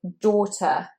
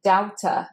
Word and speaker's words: daughter: Now, daughter is often said as doubter, as you might want to look at that AU and think that looks like ow. But actually, it's the same sound as in horse and bought and caught. It's or, long or, very rounded mouth shape, or, daughter.